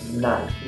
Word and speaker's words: Nayk: Aí eu pensei, vou colocar o Nike, mas eu não vou colocar Nike como se escreve na marca. Aí eu coloquei o N-A, aí eu coloquei o Y e o K.